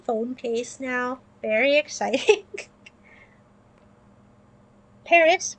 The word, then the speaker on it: Paris: Paris with a silent S.